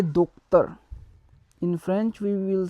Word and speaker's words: docteur: So to doctor we will say docteur. In French we will say docteur.